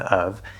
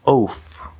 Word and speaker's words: of: Now, you would think that it should be pronounced like oof or off maybe, but off is off. This word is of. We have a schwa sound, uh uh, and we have a v sound, of.